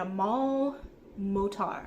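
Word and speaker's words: Amal El-Mohtar: by Max Gladstone and a mul motar I believe is how the name is pronounced um this one was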